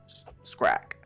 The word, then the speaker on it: Scrack: pronounce Scrack? It's all in the throat.